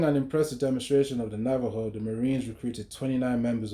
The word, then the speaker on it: Navajo: Despite being Caucasian, Johnston had been raised under Navajo, which is spelled his as N A V A J O, but it's pronounced as Navajo.